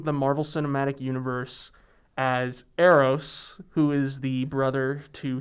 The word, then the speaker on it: Eros: Now, I don't know much about, is it pronounced Eros? Eros, yeah.